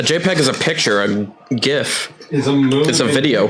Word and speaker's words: GIF: he said it's pronounced GIF he literally had to put it's pronounced GIF J if F not GIF G well then why is